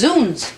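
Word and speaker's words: zounds: It's pronounced zuns.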